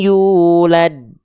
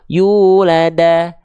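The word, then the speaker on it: يولد: vokal a i u maka huruf dalnya Dibaca yulada yuladi yuladu tapi dia dibaca yulad gitu dasarnya tapi ketika huruf Dal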